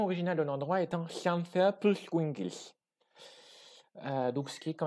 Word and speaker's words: Llanfairpwllgwyngyll: Il faut savoir que donc, le double L en gallois, c'est donc le fameux son hl, qui est retranscrit le